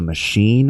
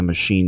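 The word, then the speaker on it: Maschine: It was called a machine, I think. Machine was spelled with an S. It was M A S C H I N E.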